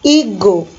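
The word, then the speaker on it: higo: figo é o figo Lembrando que eu agora não tem som então a gente fala Igor Igor é o figo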